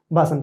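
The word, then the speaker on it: balsam: इसमें एल जो होता है वो साइलेंट होता है, बालसम नहीं पड़ता है इसको, बासम, ठीक है?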